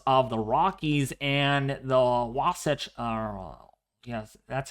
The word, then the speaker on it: Wasatch: And for the higher elevations of the Rockies and the Wasatch, yes, that's how you say it, near Salt